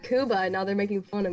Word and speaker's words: Cuba: do you pronounce kuba the correct the correct pronunciation is kuba English speaking people call it Cuba has lots where English speaking people yes well